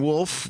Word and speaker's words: Wolfe: two very good at colleen wolf with a silent e at the end on twitter and instagram